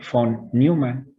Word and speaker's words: von Neumann: Esa vez se pronuncia como F, porque creo que era alemán este señor, como de Volkswagen, ¿no? También es como F. Entonces, que es von Neumann.